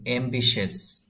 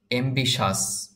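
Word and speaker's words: ambitious: শব্দটির সঠিক উচ্চারণ হবে অ্যাম্বিশিয়াস। অ্যাম্বিশিয়াস। অনেকে আমরা এই শব্দটির উচ্চারণ এভাবে করি, অ্যাম্বিশাস। অ্যাম্বিশাস বললে উচ্চারণটি বা প্রোনাউন্সিয়েশনটি সঠিক হবে না। এটার সঠিক উচ্চারণ হলো অ্যাম্বিশিয়াস। অ্যাম্বিশিয়াস মানে হলো উচ্চাকাঙ্ক্ষী।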